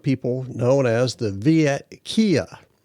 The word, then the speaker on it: Kieu: known as the Viet Kieu. I hope I'm pronouncing that right. It's spelled K-I-E-U.